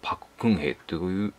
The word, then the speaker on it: 朴槿恵: 韓国語の発音ではパククンヘという方が、なんか正しいようですね。